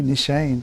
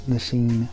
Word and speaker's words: Nishane: I guess it really would be Nishane, because S-H-A-N-E is Shane. So I'm from the South, so we're going to call it Nishane. But I'm pretty sure it's Nishane or Nishane, whatever.